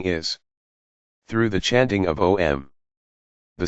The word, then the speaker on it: Om: connection to the divine although it sounds like a one-syllable word om is broken down into four syllables each